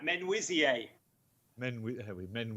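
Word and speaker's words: Menuisier: i can correct you mr s well i pronounce it manusier but clearly that is nowhere near right right men wizzy then we have we men whizzy mercy monsieur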